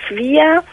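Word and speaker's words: Swyer: Ja, genau, wird auch ausgesprochen Swire.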